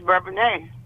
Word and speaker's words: Bourbonnais: Well, if you're from the city, it's Bourbonnais, but if you moved into the little village, it's Bourbonnais.